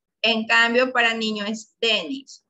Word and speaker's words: Dennis: En cambio, para niño es Dennis. La acentuación está en la D, pero para niña la mayor acentuación está en la I, Denise.